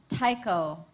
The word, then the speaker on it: taiko: Your word is taiko.